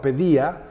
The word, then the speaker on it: paideia: Hay un libro muy lindo que se llama Pedía, los ideales de la cultura griega. Se lee en español como paideia, pero se pronuncia pedía, por eso pediatría o pedagogía.